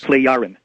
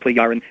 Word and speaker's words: Plejaren: Plejaren. Plejaren. Yeah, so the J is a Y or an I kind of a sound. Plejaren.